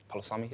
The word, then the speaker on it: palusami: I'd say, yeah, taro and palusami.